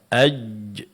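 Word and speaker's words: ج: Huruf jim itu tengah-tengah lidah menempel. Ajj.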